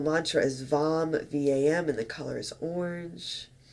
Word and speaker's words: vam: the base of your spine and the single syllable mantra the bija mantra for your sacral chakra is vom v-a-m together let's take a deep breath in